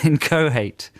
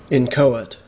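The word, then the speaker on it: inchoate: head it's it's well i pronounce it phonetically in inc inca hate in co-hate i've got i've got this wrong haven't i i don't know i've always said in co-hate when i've said it out loud how let's see what pronunciation book says in cohert in cohert no ancient man ah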